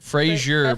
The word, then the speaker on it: Fraser: Frazier, but it's spelled Frazer.